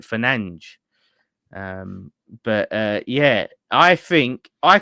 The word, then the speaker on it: Fernandes: So with Fernandes, or Fernandes in Portuguese, they pronounce it Fernandes.